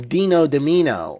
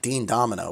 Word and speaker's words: Dean Domino: When I would find all those suitcases from Dino Domino, or as he liked to call himself, Dean Domino, which is definitely the wrong way to say his name.